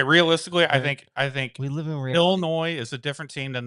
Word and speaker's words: Illinois: It's Illinois. Illinois. Illinois's. It's an S, bro. I know it's an S, but the S is silent.